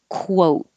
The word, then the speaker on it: quote: and then round 22 it's really a kw so you start with your lips rounded quote the whole time quote